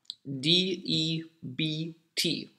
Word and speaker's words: debt: then you have debt d-e-b-t debt you have a silent b here it's when you owe